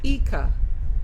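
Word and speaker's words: Ica: The Ika. Spelled I-C-A, pronounced Ika.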